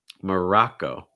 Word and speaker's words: Morocco: next one morocco morocco again you're starting off with the schwa and then you're immediately going to an ah sound so open mouth wide back your tongue down from your tongue down murrah morocco morocco morocco next one france and